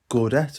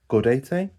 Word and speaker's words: Gaudete: And then Gaudette, or I think it should be pronounced Gaudete, which I read earlier this year and did quite enjoy.